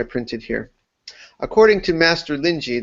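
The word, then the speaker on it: Linji: here according to master lyi that's the Chinese way to pronounce rinai the Japanese way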